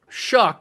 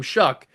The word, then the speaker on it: Shough: It is Tyler Shuck. And yes, I'm pretty sure that's how you pronounce his name. Shuck.